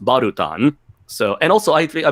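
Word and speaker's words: バルタン: katak and balon's name in Japanese it's pronounced barutan so and also I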